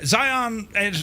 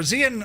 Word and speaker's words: Zion: And Zion, or Zion, or is it Zion? It rhymes with lion.